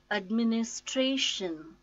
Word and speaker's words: administration: syllable - accommodation accommodation administration administration I mean is Trish stresses again on fourth syllable strange administration anniversary so